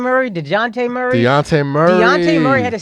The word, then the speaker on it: Dejounte: DeJounte Murray. Deontay Murray.